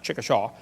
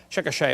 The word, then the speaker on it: Chickasha: 2004 textbook still has 2005 textbook and I pronounced it wrong as Chickasha not Chickasaw Chickasha Oklahoma I got corrected during the break still